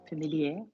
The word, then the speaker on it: familier: Familier. No. Familier. No. Because there's no E on it, is there? If we are familiar, yeah, it's like premier. Yeah, it's only première if it's feminine.